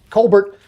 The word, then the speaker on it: Colbert: Why, Colbert? Why would you advance the Canadian nefarious agenda by pronouncing your last name as a French Canadian?